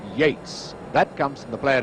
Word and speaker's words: Yeats: argument for all time although it's spelt yeets he pronounces his name yates that comes from the